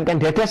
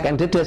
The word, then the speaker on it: Ken Dedes: Bukan Ken Dedes sebenarnya bacanya. Dedes, ya? Ken Dedes.